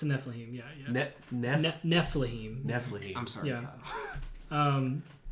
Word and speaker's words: Nephilim: It's a Nephilim, yeah.